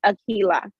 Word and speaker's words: Aquila: So the QU is a K sound, so it's Aquila.